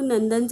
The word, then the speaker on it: नंदन: इथे एन लिहून घेतला न हा शब्दात शेवटी आहे आणि शेवटी अ चा उच्चार होत नाही म्हणून आपण एन च्या पुढे ए लिहिणार नाही मग नंदनच स्पेलिंग काय तयार झालं